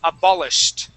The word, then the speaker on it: abolished: look at your rules if it ends with an sh how we going to pronounce that h d uh on the end or not it's a with a T at the end yes abolish abolish okay so how how we how we pronounce that we're going to jump right from that that sh sound into the T okay we say um we